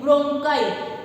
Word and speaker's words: bronchi: तो उसे जब से 2 साइड्स डिवाइड हो जाती है तो इसे हम क्या बोलते हैं, ब्रोंकाई। ब्रोंकाई के स्पेलिंग क्या है, BRONCHI।